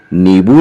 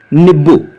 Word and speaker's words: नींबू: और चलते चलते यह भी जान लीजिए कि नींबू का उच्चारण छिंदवाड़ा की बोलचाल की भाषा में आधा ब एक्स्ट्रा लगाकर किया जाता है। जी हां, नींबू नहीं, निब्बू।